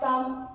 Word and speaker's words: thumb: Now, thumb, there are some exceptions also, like remember, we spell it correctly, remember.